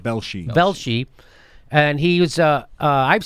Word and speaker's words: Velshi: Velshi? Velshi.